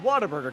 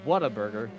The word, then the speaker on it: Whataburger: and yes simuli you heard that right it's it's southerly pronounced the Whataburger even though it spells Whataburger everyone says water yeah Whataburger yeah you